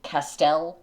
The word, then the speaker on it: Castel: And then Castel, like Castile.